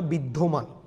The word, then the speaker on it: বিদ্যমান: বিদ্যমান। জফলা থাকলে ওকারান্ত হয়ে যাবে, এটা প্রথম ক্লাসে বলেছিলাম।